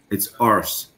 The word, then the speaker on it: arse: And they made they said, no, it's arse. You have to pronounce the R. You got it wrong. It's arse.